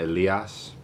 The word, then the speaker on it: Elias: One of my baseball coaches gave me the name because my family kept pronouncing it Elias. That's how you pronounce my name.